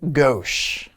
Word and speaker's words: gauche: it I don't know is it gosh or is it gauche it is gauche and what does it